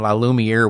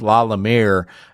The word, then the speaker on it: La Lumiere: We were saying La Lumiere. We were adding extra syllables in there with the using ring, but it's La Lumiere uh outside Chicago in La Porte, Indiana.